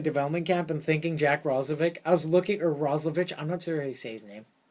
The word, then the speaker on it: Roslovic: Here, I'll spell it. Roslovic. Roslovich? Roslovich. There's no H. You can't do a ch with no H. But true, he's American. I don't know. He's American, I mean, you're right. Roslovic.